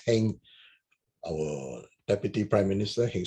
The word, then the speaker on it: Heng: It's not it's Ong, but the Teochew will pronounce it as Heng.